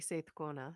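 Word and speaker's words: Seiðkona: You did pronounce it correctly, Seithkona, so well done.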